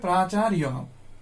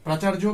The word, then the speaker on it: প্রাচার্য: প্রথমে দেখো প্রাচার্য, প্রাচার্য, উচ্চারণটা হবে প্রাচার্য। প্রাচার্য বাংলা উচ্চারণ, সংস্কৃত উচ্চারণ প্রাচার্য, প্রাচার্য, প্রাচার্য।